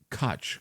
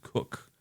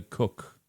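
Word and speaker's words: Koch: from Canada, and Christina Cotch, Ko C, which her family pronounces Cook. So, I'm sorry, Christina Cook, spelled K O C H.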